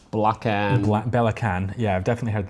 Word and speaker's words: Belacan: But before we do that, let's take a look at Belacan.